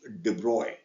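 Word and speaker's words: de Broglie: is that but the French scientist it is pronounced debroy Lambda is equal to H by P or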